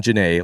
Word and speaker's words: Janae: But no, Lydia Wynn, who is a singer and electric violinist, and the multi-instrumentalist Sean Janae. Last week I pronounced his name as Sean Janey. That's wrong. It's Janae.